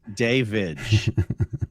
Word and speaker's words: Davidge: Um, Billy Tulip and again, Davidge is pronounced Davidge. Davidge.